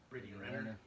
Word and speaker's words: Brittany Renner: Brittany Renner.